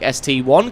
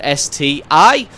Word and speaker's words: ST-I: I'm not saying that it's not an I, it is indeed an I, but in this case, the I denotes the mark or the model number rather than being an actual letter.